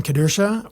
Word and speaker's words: Kedersha: podcast I'm sitting here with Scott and Kristen kadura welcome to the show guys thanks for having